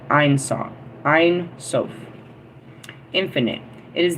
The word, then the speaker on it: Ein Sof: Ein Sof. Ein Sof. I don't know. IENSOF. How do you guys pronounce that? Well, I'm saying Ein because that's how we started Einstein. And then Sof.